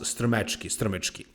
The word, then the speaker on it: Strmecki: to pronounce, but really his last name is pronounced Strmecki.